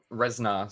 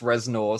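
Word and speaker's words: Reznor: that's okay well I resar sorry ban accent no it's pronounced resor so I'm gonna say it how it's pronounced how it's written Trent resar there you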